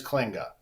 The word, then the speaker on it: Klinge: Is it Kling or Klinge? Am I saying that? What? Well, the official Dutch pronunciation is Klinge, Uh-huh. but I go by Kling.